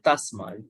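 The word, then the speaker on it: tasmā: Tasma. Tasma is T. Tasma.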